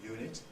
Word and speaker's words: unit: go by the pronunciation well unit is spelled with a vowel letter the pronunciation involves a semivowel before the vowel at the beginning semivowels function as consonants